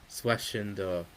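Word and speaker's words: Schwesinger: And Carson Schwes singing linebacker swinder that's how it's pronounced on the on the live coverage.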